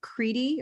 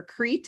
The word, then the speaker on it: Crete: will tell you all that the island of kriti or crete is really pronounced creepy but they spell it but americans